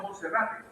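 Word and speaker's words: Monserrate: una ciudad hermosa y tiene un cerro que lo bordea que es el cerro Monserrat que los colombianos lo llaman Moncerrate. Se escribe el cerro Monterrat un sitio turístico precioso.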